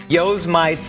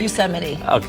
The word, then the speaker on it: Yosemite: cameraman kenny helping her out they call it joe's mites firefall yeah did i pronounce that right yosemite here's so many all right let me